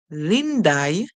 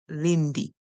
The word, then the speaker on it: Lindy: is a name if you say lindai using I for the Y at the end that would also still be correct but most likely in English whenever you have this name most persons would pronounce it as Lindy Lindy all right let's see